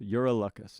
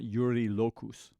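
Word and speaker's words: Eurylochus: I got several comments that I wasn't saying it right. Urielus. Uraelus, not Uriilus.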